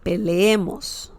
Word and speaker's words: peleemos: It's like when you say leer. Leer means to read in Spanish. So similar pronunciation, peleemos, peleemos. Leer, leemos, peleemos. Okay? So, sorry, remember that some people say peleemos, peleemos in Spanish.